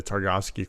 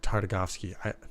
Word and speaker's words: Tartakovsky: back when she was in the Targovsky Clone Wars. And, or Tartakovsky. I feel like I say his name too fast sometimes.